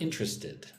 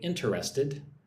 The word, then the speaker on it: interested: Look at the word interested. Right? I do not say interested. I say interested like it has three syllables.